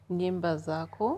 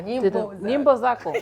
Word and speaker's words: Nyimbo Zako: Nyimbo Zako. Oh, you pronounced it wrong. Nyimbo Zako.